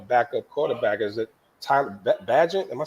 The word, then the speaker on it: Bagent: Is it Tyler Bagent? Am I saying it right? Tyson Bagent.